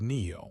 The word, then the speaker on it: Neo: It was Neo, which rhymes with new.